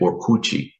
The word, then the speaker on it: Orkut: the first social networks, which was called Orchid. Brazilians pronounced it Orkut.